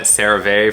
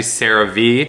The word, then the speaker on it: CeraVe: i was calling it cerave for most of my medical career it's actually cerave because you have ceramides which is of course in cerave and that's the sarah part the v or ve